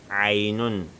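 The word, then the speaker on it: ع: Ainun. Le ain, ça se prononce avec un son qui provient de la gorge. Ainun, on prononce dans la gorge.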